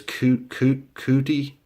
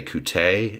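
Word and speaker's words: Coutee: of these so I've been saying this guy's name wrong apparently is Kiki cootie it really is cutie cutie I say coot a just seems right Darrius guys of course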